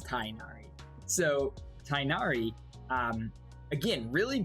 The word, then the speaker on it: Tighnari: well first of all i've been saying his name wrong i thought it was tignari but apparently it's tynaari so tainari um again